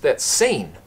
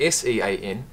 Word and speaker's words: Sean: That's seen. That's not Sean, that's seen. And that will always stick in my mind. Because ever since then, I've realised that S-E-A-N is actually pronounced Sean.